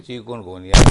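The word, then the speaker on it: chikungunya: हाँ, तो तलफ़्फ़ुज़ प्रोनाउंसिएशन बनती है चिकनगुनिया।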